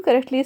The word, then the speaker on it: croquet: Pronounce करते हैं okay, when you correctly से क्रोके, ठीक है। तो आप इसी तरह से बिल्कुल सही से कहते हो क्रोके, यानी ओके क्रोके, ठीक है ना।